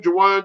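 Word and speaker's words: Juwan: San Diego, yeah, with Jawan that's how you say his name, Jawan Johnson and Troutman.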